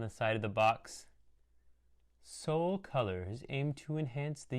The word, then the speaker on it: Seoul: Seoul is spelled, of course, like the city, Seoul, this capital city.